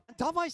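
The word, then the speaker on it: d4v41: That भाई is how you तूने एक pronounce चीज Davai, man.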